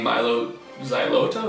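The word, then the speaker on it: Mylo Xyloto: You have an unhealthy obsession with Coldplay's CD Milo Xyloto. Is that how you pronounce that?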